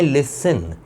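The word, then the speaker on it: listen: हमें तो यहाँ पर करना है लिसन, तो अब यहाँ पर टी साइलेंट इस्तेमाल किया गया, तो अब इस एस की साउंड चेंज नहीं हुई, बल्कि इस एस की साउंड वही रही जो एक्चुअल है।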